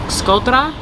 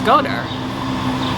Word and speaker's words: Shkodër: I've heard that the proper way to say Shkodër is like Shkodra, but then this guy, he's from Shkodër and he says Shkodër. So which way is it? I've heard both.